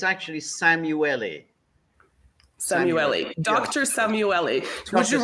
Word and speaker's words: Szamuely: into the topic that you you got my pronunciation more or less right but it's actually samueli Samui Dr samueli would you rather us be